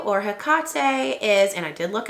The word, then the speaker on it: Hecate: That one came from Lemming Lacquer, and it's called Hecate. So Hecate or Hecate is, and I did look it up because I was curious how to say it.